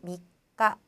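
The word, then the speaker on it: みっか: 약간 성격이 급하신 분들은 이 초금 발음하는 게 난 너무 힘들어요 라고 해서 빨리 넘어가시려고 미까 막 이렇게 하는데 그렇게 하지 마시고요. 꼭꼭 누르듯이 미까, 그 다음 또 요까 마찬가지죠. 꼭 초금도 발음을 해주세요.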